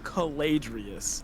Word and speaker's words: Caladrius: It's Team Caladrius. Okay. That's how you pronounce it.